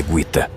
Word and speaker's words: Gita: A pronúncia correta é Guita.